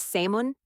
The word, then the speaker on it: salmon: That'll is silent, chef. It's salmon.